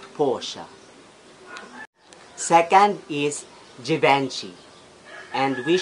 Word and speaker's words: Porsche: Most of us ay napopronounce to ng porch. Pero ang tamang pag-pronounce nito guys ay Porsche.